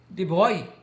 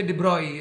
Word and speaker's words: de Broglie: of the probably the actually the the French pronunciation is the boy so in English you can say debris and that I I